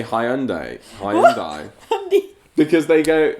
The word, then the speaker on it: Hyundai: Isn't hundy... That's kind of how Americans say Hyundai.